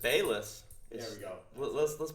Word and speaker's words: Balazs: then when I uh easily butchered when it's just Bess there we go let's